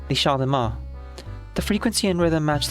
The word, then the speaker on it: Champ de Mars: steady infrasound at the Champ de Mars. I think even the M is silent. The Champ de Mars.